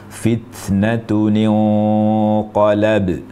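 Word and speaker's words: فِتْنَةٌ انْقَلَبَ: dari tanwin begitu juga kaidahnya di kata fitnatun ketika disambung dengan kata inqalaba yang diawali dengan hamzatul wasl maka di sini sama kasusnya ada kasus pertemuan dua sukun iltiqaus sakinain sehingga fitnatun yang nunnya bersukun ini diubah menjadi Nun berharakat kasrah sukunnya diubah menjadi kasrah sehingga kita baca fitnatuninqolab demikian jadi ini praktiknya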